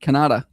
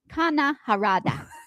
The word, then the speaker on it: Kana Harada: Sound like you said Kanada. Kana Harada.